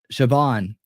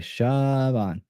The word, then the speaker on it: Siobhan: Siobhan. Really? Siobhan. Okay. Siobhan. Got you. I'm glad you did that phonetically for me. Siobhan.